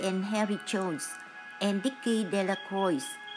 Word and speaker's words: Delacroix: harry jones and dicky delacroix the villagers pronounce this name decoy eventually made a great